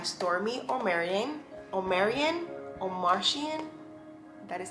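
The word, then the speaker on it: Omartian: praying wife by stormy or marion or marion or martian that is how you say i'm easily married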